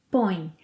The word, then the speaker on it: põe: pomos, vocês, eles, elas põem. Aqui há muitos sons nasais. Eu ponho, eu ponho, você, ele, ela põe, põe. Duas sílabas, põe, põe.